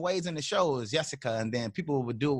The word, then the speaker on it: Yessika: It Yessika? Yessika. Yessika. Yessika. So it's Jessica, but with a Y.